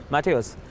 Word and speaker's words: Matthäus: he's a division head of weka business communication Mateos it's a pleasure to have you with us